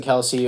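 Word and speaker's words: Kelce: right landon dickerson uh jason kelsey or jason kels however you want to pronounce it uh lane johnson here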